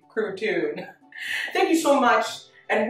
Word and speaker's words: Crouton: with carol platoon i know some people mispronounce it and say crouton but it's actually protune thank you so much